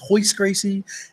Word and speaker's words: Royce Gracie: saw a video of Royce Gracie pronounced hoist Gracie and Ken shimmer and